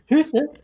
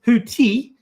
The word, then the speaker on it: Houthi: So, uh you are letting us know that you will be uh taking care of uh your clothing and um Hus is unfortunately it's Hooti and the blowfish.